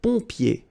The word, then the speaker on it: pompier: Then un pompier. So remember what I told you, when you get this OM here, it will give you the sound on. So exactly the same sound as this ON, all right?